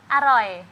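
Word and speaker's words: อร่อย: all right all right all right all right Aloy alo alo aloy is yummy yummy aloy is aloy Um, MAC is very, very aluma.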